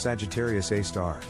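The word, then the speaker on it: Sagittarius A*: Sagittarius A, pronounced Sagittarius A star, and abbreviated as SGR-A,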